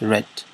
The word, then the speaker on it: read: After that, I watched TV and I drank tea, and read is the same but with a different pronunciation, just a slight. Instead of saying read, it's read.